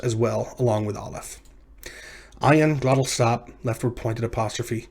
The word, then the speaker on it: ayin: This is the letter ayin. It's pronounced as a glottal stop, which means it uses